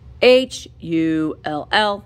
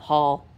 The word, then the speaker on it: Hull: I love Hull. I say it wrong. When I'm saying it Hull, it sounds like I'm saying Hall, but it's Hull with a U.